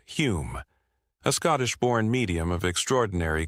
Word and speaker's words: Home: One of the most notable was Daniel Douglas Holm, pronounced Hume, a Scottish-born medium of extraordinary charisma and talent.